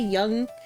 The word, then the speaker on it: Jung: Young Jung like Carl Young, I think, or no, Carl Carl, maybe not Carl Young. It's young, but it's spelled Jung.